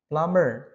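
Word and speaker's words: plumber: worker architectural designer nah perhatikan nomor 32 teman-teman meskipun ada huruf b ya di kata plummer tukang ledeng ya itu huruf b-nya jangan dibaca ya teman-teman Jadi dibacanya plummer itu yang dinamakan dengan silent letter hurufnya tidak dibaca ya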